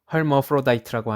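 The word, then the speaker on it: hermaphrodite: 영어에서는 이러한 양성 공유자를 의학용어로 헐머프로다이트라고 하는데, 이는 바로 헤르마프로디토스를 영어식으로 발음한 것이다.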